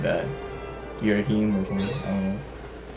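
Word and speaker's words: Ghirahim: I always pronounce it Girahim, but I think you're supposed to be like Girahim, I think is what you're supposed to do. Something like that. Girahim or something, I don't know.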